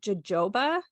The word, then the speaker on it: jojoba: today about jojoba oil so it's actually spelled jojoba um it took me a while to figure out that it's pronounced jojoba I'm dyslexic so I